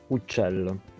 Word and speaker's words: uccello: The letter C before I or E has a soft sound. In Catalan, it's pronounced S, but Italian has CH. We saw this earlier in the word for bird.